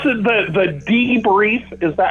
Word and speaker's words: Debrief: that pronounced the e he would say it's chris from the d brief and for some reason i don't know i would always say the debris but that's a really critical point of the conversation here if we don't get past this there's no interview okay the brief will be pronounced correctly from this point forward it's the